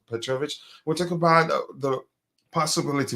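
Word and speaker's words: Petrović: I'm not sure I'm pronouncing his first name correctly, but I'm quite sure his last name is pronounced Petrovic.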